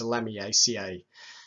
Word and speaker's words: Lamiaceae: It has A-C-E-A-E at the end, and probably the best pronunciation is Lamiaceae.